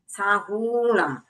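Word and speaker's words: साहूणं: उसमें सिर्फ आपको एक उच्चारण ध्यान रखना है, साहूणम। जो हु है वह दीर्घ है।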